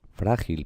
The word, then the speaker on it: frágil: Frágil, pues estos son 2 sílabas, fra y gil, y también es llana, se pronuncia frágil.